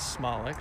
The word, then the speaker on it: Smolik: We learned today that the proper pronunciation is Smolik, so I've been mispronouncing Dan's name for a decade.